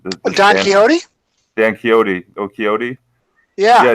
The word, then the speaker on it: Quixote: personal Spanish edition of Don Quixote, if I'm pronouncing that right. Don Quixote? Dan Quixote. Oh, Quixote?